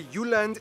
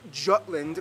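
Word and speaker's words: Jylland: full disclaimer ignore wikipedia i'm going to pronounce the location names in their proper danish context so here we go denmark is made of the uland not jutland peninsula that connects to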